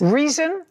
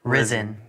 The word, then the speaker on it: Rizin: Reason? Risen. Risen. Spell it.